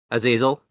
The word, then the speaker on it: Azazel: Am I going to pronounce this right? This is Azazel, right? Yes. It is. Yes. Okay, awesome. Azazel, this is Nightcrawler's nemesis minion, who has 2 scheme, 3 attack, and 3 hit points.